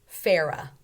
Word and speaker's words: Farah: Farah, Tara. They both say era. They rhyme.